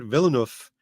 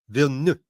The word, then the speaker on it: Villeneuve: Like, it's not Villeneuve, it's Villeneuve, Villeneuve. Villeneuve, Yeah. Villeneuve. No, Well, it's like one syllable.